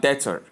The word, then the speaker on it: debtor: The B is silent, as you can see, and so in the pronunciation as well as transcription you have debtor. So we don't have debtor. It is not debtor, but rather debtor.